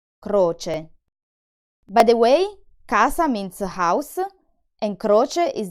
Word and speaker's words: casa: In the word CASA, the C sounds like a K because it's followed by the vowel A.